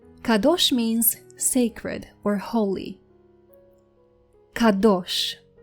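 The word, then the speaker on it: קדוש: Kadosh. Kadosh. Kadosh means sacred or holy. Kadosh.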